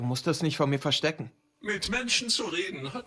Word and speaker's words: verstecken: Verstecken is to hide. Remember to pronounce the V like an F, ja?